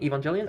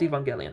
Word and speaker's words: Evangelion: Evangelian. I think it's Evangelion. I heard people pronounce it Evangeli.